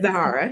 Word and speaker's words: Zahara: Yes, it is Zahara.